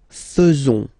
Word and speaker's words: faisons: So it's quite strange because French people tend to pronounce faisons. Okay? So like here, this AE is not pronounced like normally we should pronounce it like E, but then like E.